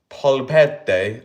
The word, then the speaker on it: polpette: Meatballs, pronounced polpette, are usually served separately from the pasta as their own dish.